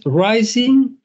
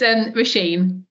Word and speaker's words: Rasheen: Rising, Rising. It's close. It's Rasheen.